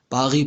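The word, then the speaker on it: Paris: पेरिस को French में पागी पढ़ा जाता है। ज़्यादातर जो साइलेंट लेटर है वो साइलेंट होता है, सॉरी लास्ट लेटर जो है एंडिंग लेटर वो साइलेंट होता है। तो पागी आर्ट्स का जो साउंड है वो गा का होता है। ये लोकेशन बता दी है।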